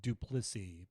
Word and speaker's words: Duplissy: My last name is pronounced Duplici, by the way.